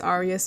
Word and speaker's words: Arias: Technically the name is pronounced Arias, but there are reasons why it's pronounced the incorrect, stupid white people version way.